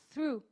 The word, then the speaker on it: through: Through.